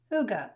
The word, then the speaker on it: hygge: I just don't want to mispronounce it. Hygge. Hygge. Okay. I did not know that, so I was pronouncing it wrong. I should know how to pronounce the word that I'm about to stamp. Hygge is a quality of coziness and comfortable conviviality